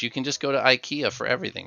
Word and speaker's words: IKEA: the words like no like Ikea Ikea not a long eye short eye Ikea close I'm not Swedish